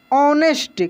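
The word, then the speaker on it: honest: जीने दीनू वॉच और ऑनेस्ट क्या पढ़ेंगे इसको ऑनेस्ट ऑनेस्ट नहीं पढ़ेंगे इसको पढ़ेंगे हम लोग ऑनेस्ट हा साइलेंट रहेगा ठीक है ऑनेस्ट मां ऑनेस्ट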